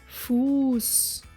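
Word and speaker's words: Fuß: a little rest and move on to a uniquely German letter it is called literally meaning sharp as it is used after long vowels and sounds like just like double s you can for example find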